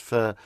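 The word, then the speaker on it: pho: Vietnamese people have um a soup called fur and it's spell pH or F but it's it's pronounced fur it's a beef broth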